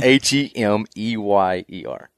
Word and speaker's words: Hemeyer: H-E-M-E-Y-E-R. Yep. So Hemeyer. This is nothing like it sounds, not phonetically.